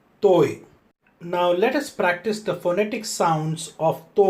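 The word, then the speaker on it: ط: The letter toi is a hard letter, which means to say when the letter is pronounced, the sound will originate in the mouth and also uses the throat sound, whereas the Hindi and the Tamil ta are actually soft letters, which means to say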